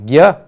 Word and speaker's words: ज्ञ: तब हम ये मान लेते हैं कि इसमें ग के साथ य जुड़ा हुआ है, लेकिन ये सही बात नहीं है। ये इसकी विशेषता है कि इसमें दो व्यंजन जुड़े हुए हैं, लेकिन जब उच्चारण करते हैं तब इस संयुक्त वर्ण का उच्चारण बिल्कुल भिन्न तरीके से होता है ज्ञ।